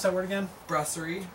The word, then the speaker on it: Brasserie: And so we brought in probably the most worldwide recognized Saison, which is Saison DuPont from, how did you pronounce that word again? Brasserie. Brasserie DuPont from Belgium.